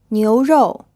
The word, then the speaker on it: 牛肉: This word is pronounced in the second tone and the fourth tone. It means beef. Did you get the O sound at the end of this syllable? Try saying it again.